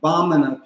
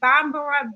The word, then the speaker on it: Bamana: Now, were you saying Bambara, Bambara? Bamana. Bamana. Okay. Bamana. The syllable, the accent is even on all three syllables.